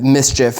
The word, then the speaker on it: Mischief: uh they've kind of Mischief is the way that you pronounce that um they do stuff